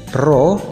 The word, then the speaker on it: Rho: Dengan P ini adalah tekanan zat cair, Rho dibacanya Rho ya, yang kayak huruf P itu.